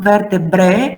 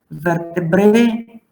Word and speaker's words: vertebrae: We must pronounce this as E every time as E.